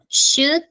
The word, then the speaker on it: should: pronunciation is this letter the letter L is silent that means that you are not going to pronounce therefore you are not